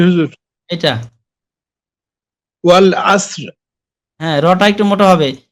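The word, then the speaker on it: وَالْعَصْرِ: ওয়াল আসরি ইন্নাল ইনসানা লাফি খুসর। জি হুজুর। ওয়াল সেই এটা মোটা হবে, ওয়াল আসর।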